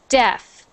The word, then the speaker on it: deaf: next one the so that is pronounced deaf deaf means you cannot hear deaf uhhuh okay sounds like sounds like deaf just just D EF so you're normally right